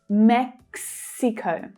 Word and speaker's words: Mexico: Watch out for the consonant cluster here in the English pronunciation. You have k, s, x, mex, Mexico. Okay, that last syllable uses the O as in go vowel sound.